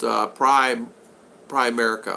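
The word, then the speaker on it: Primerica: Henry, it's pronounced Prime America.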